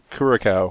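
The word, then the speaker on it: Curaçao: A health potion, gin and tonic, splash of Grand Marnier, splash of bitters, and a mana potion, sidecar with blue curacao. How do you pronounce that?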